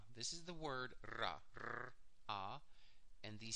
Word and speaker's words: Ra: This is the word Ra, R-A, and these silent glyphs telling you more information. But the pronounced parts are R and A, Ra.